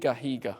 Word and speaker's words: Higa: Did you ever watch the YouTuber, right pronunciation here? Higa.